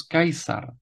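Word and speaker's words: Caesar: stejná jména která už jsme měli v restituované výslovnosti Marcus tulius kicero Gaius Julius kaisar Lucius cornelius skipo africanus gigula Claudius Hercules vespasianus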